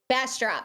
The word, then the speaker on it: Bastrop: Or Bastrop. You know how to pronounce that. I don't. Bastrop. You got it. All right.